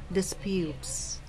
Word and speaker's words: disputes: beard say buffets buffets this is another verb so stress on the second syllable disputes okay um these are